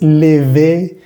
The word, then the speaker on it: lever: Esta palabra nos queda lever, lever. No es lever ni lever, sino una y otra. Lever, lever.